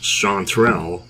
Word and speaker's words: chanterelle: I think it's actually just chanterelle, like that. Like there's not a third syllable in chanterelle.